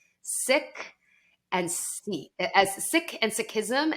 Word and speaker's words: Sikh: and and there's a large community of sick I know it feels like a weird thing you can just say six of six of six people yeah of six yeah um and so and I've never they were probably too gracious to like correct me but I've I've been calling them like seeks for like 20 years now so but thank